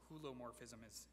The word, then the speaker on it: hylomorphism: Hylomorphism, or it would actually, hulomorphism is another pronunciation you'll hear for that.